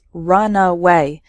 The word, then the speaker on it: runaway: before taking off so the first word has three syllables runaway and the second word has just two syllables runway completely different meanings okay shipwreck